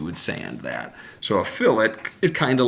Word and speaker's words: fillet: go a fillet Edge it looks like filet but for some reason they pronounce it fillet the first thing I